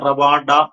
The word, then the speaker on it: റവാഡ: അത് വരികയുള്ളൂ എനിക്ക് തോന്നുന്നു മലയാളീകരിച്ചു പറയുമ്പോൾ അത് പതാ ചന്ദ്രശേഖർ എന്ന് പറയുന്നതാണെന്ന് തോന്നുന്നു. അങ്ങനെയായിരുന്നു പണ്ട് എഴുതിക്കൊണ്ടിരുന്നത്. ഇപ്പോഴാണ് റവാഡ എന്നുള്ള ഉച്ചാരണം വരുന്നത്. അങ്ങനെ പല പേരുകളും പല പേരുകളിലും